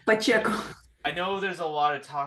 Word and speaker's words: Pacheco: I'm gonna get her name wrong. Pahaccio. Um, Pacheco. I, Pacheco.